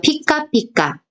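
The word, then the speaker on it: ぴかぴか: 자, 타금이 붙었을 때는 비라고 읽었는데 반타금이 붙으면 피. 그래서 피카피카, 피카피카 이렇게 읽으시면 돼요.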